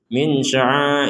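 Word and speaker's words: مِنْ شَعَائِرِ اللَّهِ: Jadi jangan sampai langsung dibaca jelas, misalkan min sya'a, ini kan cepat sekali itu. Min sya'airillah. Ini kan nggak ada dengungan, nggak ada samarnya sama sekali. Jadi kita harus menyamarkan atau membaca dengan samar untuk nun sukun bertemu dengan shin.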